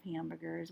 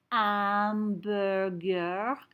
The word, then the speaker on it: hamburger: it's plural lots of hamburgers we need some s's notice i said amberger i didn't say hamburger do you remember why i didn't say hamburger i hope you said because the h is silent si long see okay